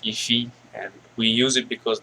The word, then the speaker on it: IIFE: do we use it it's pronounced iffy and we use it